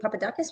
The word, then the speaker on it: Papadakis: I have Papadakus with me. Is pronunciation okay?